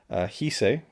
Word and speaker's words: Chise: Because, in particular, Lady Chise, that's how I would naturally pronounce it. I believe in Chris's commentary, he calls her Hise, so without the C, so there's not a ch at the beginning, even though it's Chise.